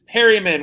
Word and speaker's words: Perryman: round pick on him his last name is perryman which rhymes with barryman um uh he he'll